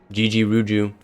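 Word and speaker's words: Gegeruju: Oh yeah, Gigiruju. Yeah. That's how you say it. Unless it's GG. Gigiruju.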